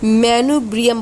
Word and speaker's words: manubrium: ये जो ऊपर का भाग होता है इसको हम लोग मैनुब्रियम बोलते हैं। क्या बोलते हैं, मैनुब्रियम बोलते हैं।